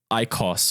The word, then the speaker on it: IQOS: like vaping system called an icos or I it's spelled iqos it's like what it